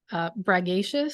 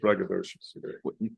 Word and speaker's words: braggadocious: He said braggacious. I'm right, mispronounced it. I was. Braggadocious.